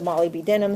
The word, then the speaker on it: molybdenum: their group okay so molybdenum or as you call it Molly B denim so you know how to spell it molybdenum does the